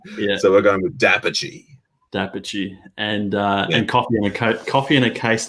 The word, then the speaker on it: d'Apice: It's sort of a very like Anglo-Australian pronunciation of an Italian surname. So if we were to pronounce it correctly, if we were in Italy and you saw a name spelled this way, you'd say Darpice.